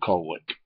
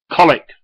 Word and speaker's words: Colwick: She says, to Armitage is at Colwick. I said, Jackie, how many more times have I got to tell you? It's colic. It's spelt Colwick, pronounced colic.